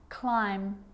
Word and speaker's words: climb: rule to remember with the letter b it's always silent when it follows the letter m climb crumb lamb thumb dumb and plummer so practice them with me i'm not pronouncing the b i'm just pronouncing the m consonant sound climb crumb lamb thumb